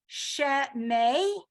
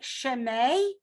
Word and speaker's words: Shemei: Now, when it's in a hey at the end of the word, it's a little bit more tricky, right? So listen carefully as I try to pronounce that, right? Shemei, right? You hear the wind coming out, right? Shemei. You're almost pronouncing the hey there. Again, if you don't, nobody's going to notice, nobody's going to care, even if you're the one leading it.